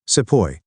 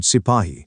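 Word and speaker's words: sepoy: the company new words SEO this is how the British pronounced the word sepahi meaning an Indian soldier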